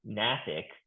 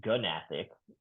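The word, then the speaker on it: gnathic: So when you're reading Nathic, you're going to sound a bit silly if you say Gunathic in front of everyone else that knows that that G is silent.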